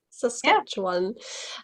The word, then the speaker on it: Saskatchewan: like um what what's the right way to pronounce it saskatchewan one yeah you did it saskatchewan um i've never heard anything about it oh